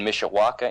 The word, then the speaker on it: Mishawaka: is out of South Bend uh Indiana and Mishawaka Indiana I hope I'm pronouncing that correct is correct yeah I've been